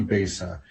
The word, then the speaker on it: Besa: So yeah, Jason Iverson is more dialed in with the story of that, but I always pronounce it Bisa, and then he always corrects me. So it must be Besa.